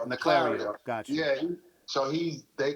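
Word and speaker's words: Naclerio: the stuff I saw, This is you know, I've Ron seen, Narciero. huh? Narciero? How do you say his name? Naclario.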